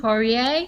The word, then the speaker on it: Poirier: His name is Poirier. And, please forgive me if I didn't get that quite right. It's a French spelling, but he says it's an American pronunciation.